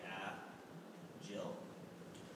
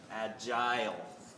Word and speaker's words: agile: of some people say a Jill and those people are wrong right the correct pronunciation is like an I right agile you can speed up